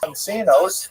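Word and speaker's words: Soncino: prominent centers were this sonino family. will probably pronounce it sonino because you know I was born in North America but it is uh in Cisu it would be pronounced sonino I said right uh were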